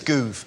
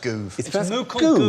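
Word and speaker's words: Gove: CLE Clash recently it's goo as in move movement it's pronounced goo yeah Michael goo Michael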